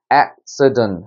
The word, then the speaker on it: accident: 그래서 어떻게 읽느냐? accident 해서 처음에 찍고 위를 정점을 찍는 거예요.